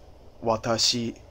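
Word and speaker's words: 私: I is watashi, watashi, watashi. Notice how my pronunciation is very flat, and there's no other emphasis in my voice.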